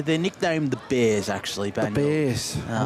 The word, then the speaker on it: Banyule: From Banyule.